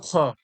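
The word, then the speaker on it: خ: এর নিচে আপনাদের দেওয়া রয়েছে দেখুন গইন খর পড়া দেওয়া রয়েছে। মাখরাজ নাম্বার ৩-এ কি রয়েছে? গইন খ। কণ্ঠনলীর শেষ অংশ হইতে উচ্চারণ হয় গইন খ।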